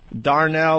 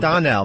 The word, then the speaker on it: Donnell: Darnell, or how do you say his name? Donnell, right? Donnell, yeah.